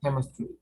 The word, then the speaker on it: chemistry: Many combinations in English, letter C, when you talk about letter C, when you talk about spelling, letter C and H, they have the pronunciation K, right?